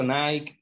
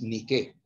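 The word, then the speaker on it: Νίκη: en griego es victoria está mal dicho nike nike y hay que pronunciarlo como es ni que indique significa victoria cuando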